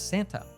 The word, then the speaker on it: Santa: young children might pronounce Santa let's break down the connected speech in this sent sentence the N letter combination loses the T so it sounds like San not Santi the D is dropped